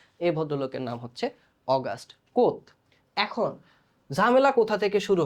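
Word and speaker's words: Comte: কারণ এইটার উচ্চারণ আসলে কমতে না। এটার উচ্চারণ হচ্ছে কোথ।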